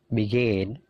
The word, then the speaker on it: begin: ya ask avoid become begin jadi perhatikan stressingnya stressingnya punyanya come punyanya gain punyanya leave jadi stressingnya itu di suara yang kedua avoid become begin believe